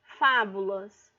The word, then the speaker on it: fábulas: Por exemplo, fábulas. Fá, ela é a antepenúltima e a mais forte.